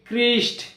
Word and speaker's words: Christ: Chrome, CHROME, Chrome, অর্থাৎ সিএইচ এই লেটারের পরে যদি আর থাকে শব্দে, সেক্ষেত্রে আমরা সিএইচকে কয়ের মতো উচ্চারণ করব। So Chrome, CHROME, Chrome, CHRIST, ক্রিস্ট, ক্রিশ্চিয়ান, এক্ষেত্রেও সিএইচ তারপর আর হয়েছে, অর্থাৎ এখানে আমরা সিএইচকে কয়ের মতো উচ্চারণ করব।